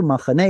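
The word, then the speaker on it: מחנה: But it's neither here nor there, because in modern Hebrew, machane is how you say it.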